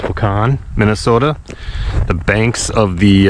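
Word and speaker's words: Wahkon: by side hi everybody I'm in wakan I think it's pronounced pecan Minnesota the banks of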